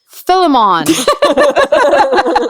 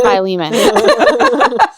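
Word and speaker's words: Philemon: come join us while we study filimon that's not how you say it it's by Leman I knew that yes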